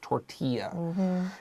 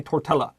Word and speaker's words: tortilla: And then dia is just tortilla. It's a corn tortilla. 不要那个 L 没有发音 don't say tortilla, right?